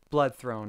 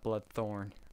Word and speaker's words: Blood Throne: name of the series it's actually blood Throne not blood Thorn I need glasses it's